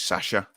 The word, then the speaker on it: Sasha: If you look how his missus pronounced it on the announcer video, it's Sasha.